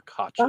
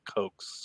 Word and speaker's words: Koch: Like my grandmother and grandfather, they were Koches. Oh, They weren't Cokes or Kooks or whatever you want to say. It was Koch.